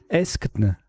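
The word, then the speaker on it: aeschne: Eskn, ça s'écrit A-E-S-C-H-N-E. Ça forme donc Arasa, l'été et elle et les au pluriel. Eskn, K7, ça fait 89 points.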